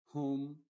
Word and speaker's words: whom: lo contrario es decir la W es muda y la H es la que sí se pronuncia diríamos Who Who whom Ho Ho entonces la